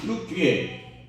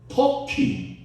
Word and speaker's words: 튀르키예: 지진권 튀르키예, 여러분 발음하면 튀르키예, 옛날 발음은 뭐죠? 터키.